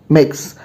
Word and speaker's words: Mx: belong to you can simply write mx that is mix or if you are